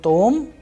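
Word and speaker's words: том: on ah so likewise in tom it's on o in no it's on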